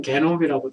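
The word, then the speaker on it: genome: 인간 유전체 사업이라고 하는 것은 뭐 영어로는 휴먼 지놈 프로젝트, 뭐 지놈이라고 우리는 읽는데 뭐 공식적인 우리나라 표현은 게놈이라고 되어 있던데, 그러니까 G를 E로 읽어서 게놈이라고 되어 있는데 영어로는 그냥 지놈이라고 읽어요.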